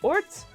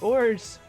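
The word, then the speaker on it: orz: There's no set way to pronounce it. People may pronounce it orts, ors, or ors. I pronounced it ors.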